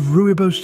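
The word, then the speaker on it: rooibos: animals carry out courtship displays ever heard of ruos tea it's spelled r o o i b oos ruos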